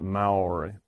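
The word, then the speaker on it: Māori: I should pronounce that Maori. They pronounce it.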